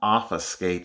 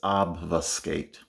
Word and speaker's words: obfuscate: pronouncing the word correctly it's not office skate it's obfuscate okay o b f u